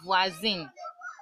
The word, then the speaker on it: voisine: The pronunciation is supposed to be s, but whenever in French, whenever we have an s in between two vowels, it becomes a z sound.